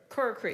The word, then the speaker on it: Corkery: And then you've also been back as Corkery, right? Corkery. Corkery, Yep. yeah, thank you. It rhymes with Perkasie.